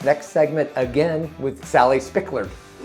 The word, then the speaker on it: Spickard: We are joined in this next segment again with Sally Spickard.